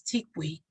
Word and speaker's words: Tikwi: It's Tikwi, pronounced like a bird's call.